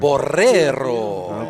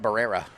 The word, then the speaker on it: Barrero: Can you say his name again and roll his R? I Juan can't do that. Barrero. Okay, Barrero. Not Barrera. I say it like a Anglo guy.